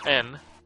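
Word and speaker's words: 円: Or N, as it is pronounced, because there is no yes sound.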